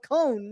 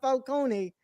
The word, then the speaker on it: Falcone: falcon and finally also they call him by how it's pronounced it's called cone not falcone yeah you know that's the italian and they they even